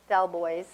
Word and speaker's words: Delbois: So now I'm going to introduce Michelle Delbois, not the French pronunciation, from Remo.